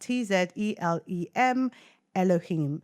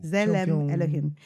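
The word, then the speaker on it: צלם אלהים: But this is pronounced Tzelem Elohim. So you pronounce it as Zele Elohim. Yeah. Ooh, Zelem Elohim. Image of God. Okay, so Zelem Elohim.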